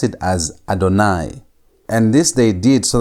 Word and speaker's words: Adonai: here the y w you should pronounce this as adonai and not as ywe.